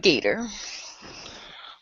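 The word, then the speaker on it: Gaider: It's actually spelled like G A I D E R E R E R E R E R E R E R E R E R E R E R like Raider except with a G.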